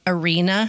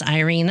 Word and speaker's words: Irena: Like arena you play football in, but a person's name spelled the same way, like Irena. Oh, is it Irena? I guess. Is it not Irena? I don't think it would be Arena. It would be Irena.